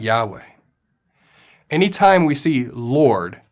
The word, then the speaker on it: Yahweh: intentionally replacing the Tetragrammaton yo hey Bob hey or Yahweh as we pronounce it anyone can look